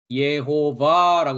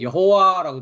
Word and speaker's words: 여호와: 그 하나님의 이름은 뭐입니까 예호바고 했습니다 이것은 이제 히브리어 어 발음인데 한글은 여호와라고 돼 있죠 그 여호와가 창조했다고 하는